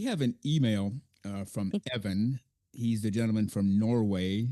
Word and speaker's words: Even: Now, we have an email uh from Evan. He's the gentleman from Norway. It's spelled eve ven. So in English to us it's even. But he pronounces it Evan, which he's entitled to